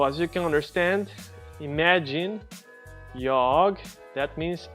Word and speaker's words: jag: In Swedish, the letter A is pronounced in 2 ways, A and A. And you have to just learn that. Many times when it's an A is followed by 2 consonants, it's A.